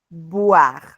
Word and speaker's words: boire: Voir, boire. En el primer caso, repito, utilizamos dientes superiores, labio inferior, voir. Y en el segundo caso, labio superior, labio inferior, boire, boire, bu, bu.